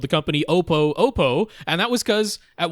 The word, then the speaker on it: Oppo: You look at OPPO, is it Oppo? Is it Oppo? Who really knows? I at that time, Twitter wasn't a horrible cesspool, and you could actually talk to people. And so I reached out to Oppo on Twitter, and they're like, yeah, we don't really care if you say it Oppo or Oppo, but we always say Oppo around here.